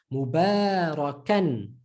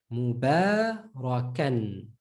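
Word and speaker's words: مباركا: Mubarakan. Mubarakan. The alif is silent.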